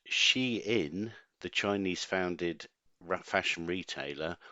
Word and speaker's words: Shein: their straps I guess if it had been a German company it would have been pronounced shine but she in the Chinese founded fashion